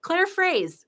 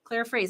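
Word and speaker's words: Claire Fraise: Claire Phrase. Claire Phrase. I remember because her last name means strawberry in French, fraise, and she pronounces it phrase.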